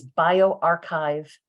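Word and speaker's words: bioRxiv: the other three and you pronounce them as bio archive psych archive social archive as you can see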